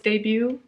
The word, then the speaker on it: debut: that was on his debut debut debut so one of those words where you don't pronounce the T right yeah wow I'm